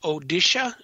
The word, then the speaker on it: Odisha: I do believe it's pronounced Odisha, Odisha.